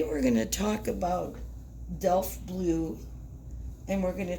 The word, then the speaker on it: Delft: The piece that is in front of you right now is Delft Blue, and it's spelled D-E-L-F-T, Delft.